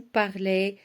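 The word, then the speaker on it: parlent: La terminaison de vous, c'est EZ et on dit vous parlez. La terminaison de il avec S ou bien elle avec S, c'est ENT et on dit il parle. Regardez, s'écrit ENT mais se prononce E, ok?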